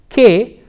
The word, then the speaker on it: que: hablar etc the word que what the letters Q u e in English or ooh ooh ay in Spanish is pronounced like K and the segment qu